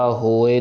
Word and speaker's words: होए: नहीं करना रक्षा होए हा हे में होड़ा इड़े से हारी ए सो होए हा हे ओड़ा हो लंबा ख जाएगा इड़ी से हारी ए छोटा आएगा होए होए नहीं पढ़ना अगर